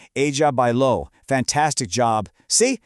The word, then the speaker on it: bailó: And the answer is bailó, with that all-important accent on the O, remember? Ella bailó.